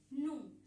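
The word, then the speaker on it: gnu: मैं आपको बताती हूँ, यहाँ पे जी जो है वो क्या है, यहाँ पे साइलेंट है। जी क्या है, यहाँ पे साइलेंट रहेगा। इसको आप कैसे प्रोनाउंस करेंगे, नू, सिर्फ ये प्रोनाउंस किया जाता है इसमें।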